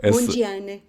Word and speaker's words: Mondlane: Eu estou a dizer Mondlane e tu estás a dizer Mondlane? Há aqui uma pronúncia diferente? Estás a usar a pronúncia local, é isso? Estou a tentar. É só Mondiane. Mondiane, fica essa diferença.